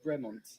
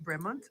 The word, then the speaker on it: Bremont: All right, so I would say this is a Bremont, but how do you pronounce this? Bremont. Bremont.